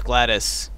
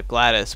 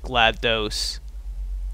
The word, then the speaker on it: GLaDOS: no sense again that's how you're supposed to pronounce glattus instead of glad is everyone pronounces it a gladus but apparently it's like GLaDOS GLaDOS GLaDOS yeah yeah ooh they're coming on